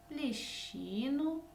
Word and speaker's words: ліщину: цьому слові більше звуків тому що в ньому присутня літера щ яка завжди позначає два звуки ш ч Скільки ж в цьому